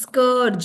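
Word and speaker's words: scourge: ओ आर सी एच नो इट्स स् कर्ज स् कर्ज ज sound is coming in the last सो एस सी ओ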